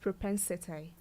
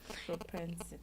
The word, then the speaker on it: propensity: p n s i t y it is pronounced propensity my didn't together I thought you wanted to spell prosperity propensity propensity it is a noun which means an